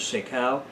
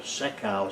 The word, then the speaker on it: sekau: Pohnpei and Kosrae, where it is known as sekau and sika, respectively. The roots of this pepper plant were pounded into a pulp on a large basalt sekau stone.